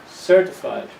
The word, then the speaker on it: certified: form of the word certified the first syllable is a strong one certified accountant and another form of